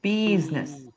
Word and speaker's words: business: Think of it like a busy bee. Business.